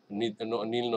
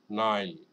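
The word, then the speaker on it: Nile: মিশরের যে নদী আমরা বাঙালিরা আপনার এটাকে মানে বিভিন্নভাবে এটা ভুলভাবে উচ্চারণ শিখছি। হ্যাঁ? যেমন আমরা বলি নীল নদী। না, ওরা কিন্তু এটা দ্যা রিভার অফ নাইল বলে। নাইল, নাইল।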